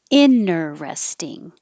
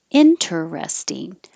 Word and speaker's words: interesting: sentence intersection or intersection now this word you have three options inner resting or with the t interesting or switch the r and the e interesting interesting i think this one is most common a parent a parent